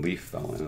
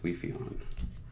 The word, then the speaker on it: Leafeon: No, it's not even Leaf Felon, it's Leafeon.